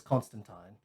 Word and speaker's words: Constantine: pronunciation of his name it is Constantine rhymes with time yeah it is a